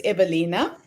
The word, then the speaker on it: Ewelina: Yes, so she's Polish and the W is spelled as a V, so it's Ewelina.